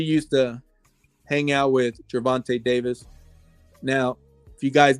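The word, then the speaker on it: Gervonta: hung out she used to hang out with gervante Davis now if you guys don't know who he is Google his name and see what happens let me say his name again gervante Davis so g e r v o n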